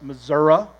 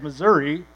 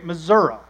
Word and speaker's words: Missouri: but grew up in southwest Missouri which is how you say it unless you're a city slicker who says Missouri you say Missouri and dad grew up